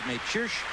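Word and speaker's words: Mečíř: he'll Aslam may cheer may we finally put the pronunciation of his name at rest yesterday if you watch us referring to him as major Sh and that is as close as we could come to the correct check out of Akron but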